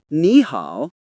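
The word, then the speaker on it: 你好: When two third tones are next to each other, the first one usually changes into a second tone in real spoken Chinese. For example, nihow sounds like nihow.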